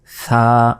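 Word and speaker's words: ثاء: তিন নোক্তা এটা হচ্ছে সাটা অবশ্যই জিবাভাবে বের করে উচ্চারণ করতে হবে এরপর এটা কি ওয়াও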